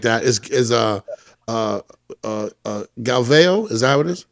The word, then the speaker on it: Galvão: So it's actually, the way to pronounce it is Galvão, because the A at the end has the little squiggly worm on top.